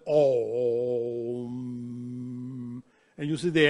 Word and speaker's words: Om: This is a symbol written Aum, but you pronounce it Om.